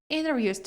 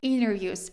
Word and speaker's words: interviews: Дуже часто в американській вимові ось цей а префікс, оця приставка inter вимовляється як inner. Internat internet. International international interview. Тобто в залежності від вимови, точніше від варіанту англійської може змінюватись вимова.